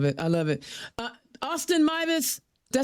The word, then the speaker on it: Meives: Austin Myvis, did I say it right?